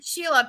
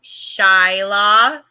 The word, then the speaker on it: Shyla: how to say it oh see i always want to call her sheila pj would go shyla i go i'm sorry